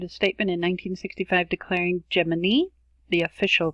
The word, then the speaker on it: Gemini: program, and it is actually supposed to be pronounced Gemini, although you will hear oftentimes in documentaries and even astronauts themselves talking about the Gemini program.